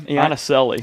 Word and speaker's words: Iannicelli: How do you pronounce his name again? Iannicelli. Yeah, we talked about him. Iannicelli. Iannicelli? I've tried 19 times. I even asked Coach Sade, and he did a phonetic spelling for me, and I still butchered it.